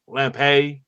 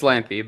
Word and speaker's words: Lampe: it's Larrison or or Lampe. All right I hope I hate when I mispronounced names. It's L it's Lampy but yeah Lampy. Okay.